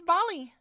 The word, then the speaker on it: Bali: My name's Bali. How the fuck do you spell that, Beaker? It's like Baldy, but without the S.